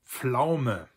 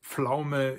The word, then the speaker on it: Pflaume: Die Pflaume. There's also a southern German and Austrian term for that, Zwetschge, which is not much easier to pronounce because we have zw in there. But Pflaume is the standard and very commonly used term